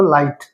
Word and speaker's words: light: ऐसे ही LIGHT, तो यहाँ पे सिर्फ आई की साउंड आएगी, GH क्या हो जाएगा, साइलेंट हो जाएगा, तो लाइट।